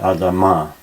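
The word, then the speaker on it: אֲדָמָה: ground by the way the traditional emphasis in Hebrew is nearly always on the last syllable so Adam and Adam are and the similarity between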